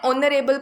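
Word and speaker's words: honourable: जैसे an honest error, ये एच से स्टार्ट हो रहा है बट we added N ऑनरेबल place, यहाँ पे एच साइलेंट है, अ साउंड ओ साउंड दे रहा है।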